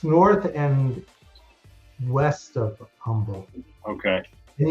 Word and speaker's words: Humble: Yeah, it's north of Humble. It's north and west of Humble. Okay. And you even said it right. People will say Humble.